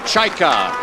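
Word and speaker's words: Čajka: There's young Luděk Chajka. That's how you pronounce it. The ch sound for the c.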